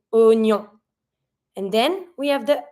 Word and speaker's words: oignon: We're not going to say wa. We're just going to be pronouncing o. Oignon. Oignon. So what we're going to do, we're going to avoid the I. We're just going to pretend that the I is not here.